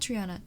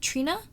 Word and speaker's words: Trina: No, T, not Triana. Trina, am I saying your name right?